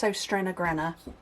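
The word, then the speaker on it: Søstrene: If you're interested, these are from a company called, it's pronounced Sostrena, but you would read it as So Stream Green.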